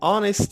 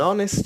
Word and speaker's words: honest: an hour this an honest student an honest student again we have h as the first word in this adjective but we don't read it we have m then